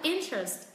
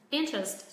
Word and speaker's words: interest: Trọng âm vẫn rơi vào âm tiết thứ nhất. Chúng ta sẽ hạ giọng ở hai âm tiết còn lại.